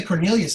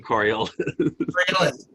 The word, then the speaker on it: Coriolis: way I hope so too you know the Cornelius effect pronounced correctly which I just did not pronounce it correctly Coriolis I kept saying corolla toyota corolla anyways follow